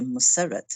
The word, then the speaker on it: Musarat: And I remember a young girl called Musarat, and in Urdu we say Musarat, and I know that because I was taught Urdu, and I can read it.